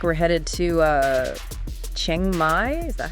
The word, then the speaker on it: Chiang Mai: Yeah, looks like we're headed to Chiang Mai. Is that how you say it? Chiang Mai, yeah.